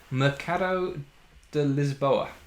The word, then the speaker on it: Mercado de Lisboa: two uh is called mercado de lisboa which i think is how the portuguese pronounce it um and this is